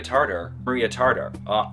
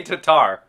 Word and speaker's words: Tatar: Harvard professor Maria Tartar, I don't know how to say her name. That seems bad, right? Maria Tartar filmed interview. Hang on, guys, sorry. Record holder, Maria Tatar. They say Tatar.